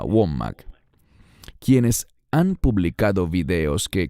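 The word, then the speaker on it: Wommack: celand o Andrew womac creo que se pronuncia womac quienes han publicado videos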